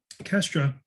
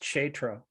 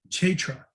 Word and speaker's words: Kshetra: As stated before, Kestra is the field of activities, and there are two kinds of Kestranya. It's actually pronounced Kshetra. Kshetra.